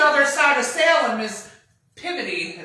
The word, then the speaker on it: Peabody: Well, WE WENT TO SALEM AND RIGHTBODY JUST THE OTHER SIDE of Salem is pivoty is how they say it in Massachusetts. Pivity.